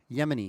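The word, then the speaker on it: Yemini: Yemeni, Yemeni, right?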